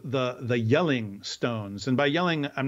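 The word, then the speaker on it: Jelling: are called the the yelling stones and by yelling i'm not i mean like yelling like shouting it's yelling with a j so it looks like gelling stones oh okay okay but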